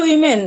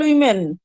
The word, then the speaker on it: women: সুন্দর তাই বলেছে বিউটিফুল উইমেন। তোমরা জানো নিশ্চয়ই WOMEN এর উচ্চারণ কিন্তু উইমেন হয়। যেমন WOMAN WOMAN এটার উচ্চারণ ওম্যান, কিন্তু যেই মাত্র এটা প্লুরাল হয়ে যাবে সেটা হয়ে যাবে উইমেন।